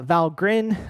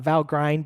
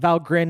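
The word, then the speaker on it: Valgrind: Um uh and with that you have to mention uh Val Grin uh importantly uh not val grind but valrin is the pronunciation from their website uh for uh memory leaks.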